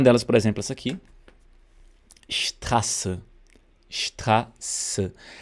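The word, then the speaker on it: Straße: Strasse. Strasse. Ela vai soar como SS. Então aqui você, né, ao pronunciar, pensa que é SS, Strasse, Strasse.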